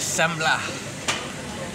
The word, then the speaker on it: semla: how did you pronounce it this is sambla yeah it's some sort of sweetened bread with